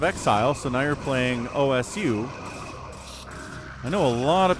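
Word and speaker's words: osu!: It pronounces it in Japanese, so the U is silent. So it's called OS.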